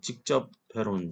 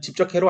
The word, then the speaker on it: 집적 회로: 이거 대충 발음하면 이렇게 직접 회로인 줄 압니다.